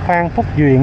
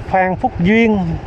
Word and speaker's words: Phan Thúc Duyện: Đây con đường Phan Thúc Duyện nha. Nè, Phan Thúc Duyện. Qua giờ em đọc là Phan Phúc Duyên.